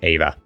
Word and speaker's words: Eva: So, apparently officially it's Madam Eva, but I'm saying Eva. Eva. Eva. I would say Eva.